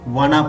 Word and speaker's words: wanna: Want to को spoken English में wanna pronounce करते हैं।